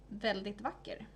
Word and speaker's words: väldigt vacker: That would be pronounced "väldigt vacker", which is very beautiful.